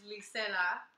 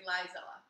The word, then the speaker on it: Lizella: So, my full name is Licella, but it's spelled with a Z. And, and then I also hate it when people say Lizella.